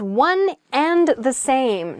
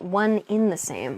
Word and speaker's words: one and the same: you work on it next is one and the same not one in the same i'm probably guilty of this